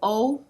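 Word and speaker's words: を: saying oh or whoa because it can pronounce e different ways depending on how you're using it when you are using it as a particle it is a it is o but when you read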